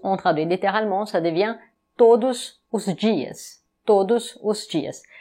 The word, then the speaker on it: todos: On traduit littéralement, ça devient todos os dias. Todos os dias. Attention, la prononciation, c'est todos. On ne dit pas todos, on dit todos.